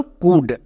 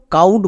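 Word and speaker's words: could: হসুকার সাউন্ড দেবে next আমরা জানি এল এর পরে ডি থাকলে এল সাইলেন্ট এখানে এল এর উচ্চারণ হবে না কারণ এখানে এখানে এল সাইলেন্ট। তাহলে এর উচ্চারণ কি দাঁড়ালো? কুড। একে আমরা কেউ কাউড বা ক্লাউড এরকম উচ্চারণ করবো না।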